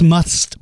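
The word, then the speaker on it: musth: with with the month what must pronounce must but spelled mus th what that is if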